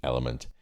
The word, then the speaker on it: LMNT: Now it's actually spelt with 4 letters, LMNT, Element.